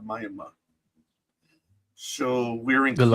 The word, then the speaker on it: Miami: Um, there's a city in Oklahoma that's spelled Miami. They call it Maya.